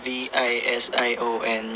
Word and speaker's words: VXON: si Fr over naman sa communication skills Yeah v i s i o n yun yung pronounce ng vx o namin kumain na kayo